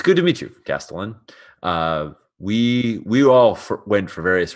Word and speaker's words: castellan: We both got it wrong. Castellan. With a hard K.